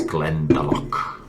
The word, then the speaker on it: Glendalough: before, even though I think I've did the pronunciation wrong there. It's Glendalough.